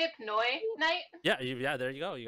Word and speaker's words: Pinoyknight: Pinoyknight?